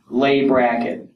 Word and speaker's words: Leigh Brackett: not which this is trivia she was born lay bracket that's how you pronounce it and when she started to uh